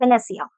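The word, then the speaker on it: panacea: इसे हम प्रोनाउंस कैसे करते हैं? पी ए एन ए सी ई A that's वेनेसिया।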